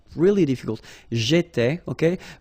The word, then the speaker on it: j'étais: J'étais, okay? Remember here we've got accent aigu, so it goes like et, all right? J'étais, okay? Tu étais, il était, elle était.